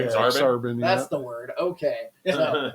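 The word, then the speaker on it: Aksarben: Exarban, That's the word.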